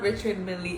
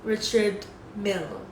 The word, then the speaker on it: Richard Mille: Bukan, itu bukan Richard Milly. Ini Richard Mille. Mungkin... Tunggu, mari kita coba mengucapkan BR. Oh, oke. Um, YSL, YSL, jika itu adalah lima jam tangan Richard Mille termahal yang pernah saya sebutkan.